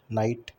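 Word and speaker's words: knight: नाइट का pronunciation correct ये होता है नाइट। चेक कर लेते हैं, बिल्कुल सही। इन नाइट बोथ के एंड जी एच is silent are silent.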